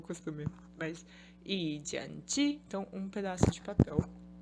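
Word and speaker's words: zhāng: E de jian, rifle.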